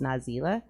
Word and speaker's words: Nazelah: find me on Facebook my name is na ze lah pronounced nas ela I know that some